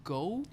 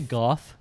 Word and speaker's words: Gough: I don't know how to pronounce his name. Is it Michael Gough? I always say Gough.